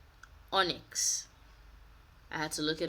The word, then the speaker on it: Onyx: pronounce this word and this is actually how you pronounce it onyx i had to look